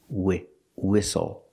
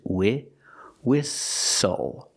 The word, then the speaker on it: whistle: the pronunciation of whistle we see the H is silent so we have W wi use the short I like this is wi whistle the t is silent